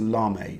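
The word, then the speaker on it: lamé: It's a lame, or a lame. It's spelled lame with a E accent upwards.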